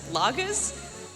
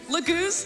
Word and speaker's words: Laguz: Shout out to the best Lagas. I don't know how to pronounce that. Shout out to the best Lagas King, Tibern. Laguz, thank you.